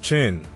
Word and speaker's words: Qin: The state of Qin, pronounced Qin, played a pivotal role in this transformation, being the westernmost state that engaged with merchants from the west.